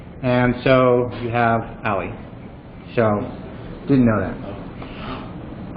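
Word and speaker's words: a11y: that dealt with the accessibility so it is pronounced Ali I did not know that until reactor Ali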